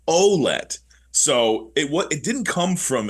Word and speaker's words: Ouellette: Because we look at that name in Canada, and for the most 9 times out of 10, it's a francophone pronunciation. But it was, I'm going to get this wrong, but it was either his aunt or his grandmother. Somebody contacted the team and said, by the way, it's Ouellette.